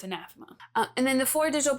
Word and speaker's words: Anathema: There are videos on the internet where I mispronounce this. You think that you hear me call it anathema, but I guarantee you you did not hear me say that and I know it's anathema.